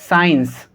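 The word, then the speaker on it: science: बाद C है, तो यहाँ सभी में S साइलेंट होगा। असेंट, साइंस, समझ पाए आप?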